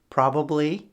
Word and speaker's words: probably: Probably uses the B sound and properly uses the P sound.